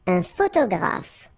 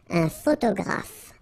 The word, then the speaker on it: photographe: Un photographe. So here, PH, and here, PH, pronounce it like F, F, F, F.